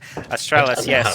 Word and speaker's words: Astralis: But Astralis say it Astralis.